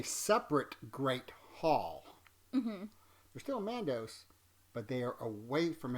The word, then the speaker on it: Mandos: gathers them up in man do which is the correct way to say it I was leaving off the s a few times earlier but in a separate Great Hall they're still Mandos but they are away